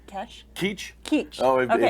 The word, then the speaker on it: Keech: Keech. Keech. Oh, Okay. It's been pronounced a number of ways, you can imagine.